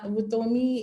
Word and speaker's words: Vutomi: Is it Vutomi, yeah, Vutomi is Tsonga.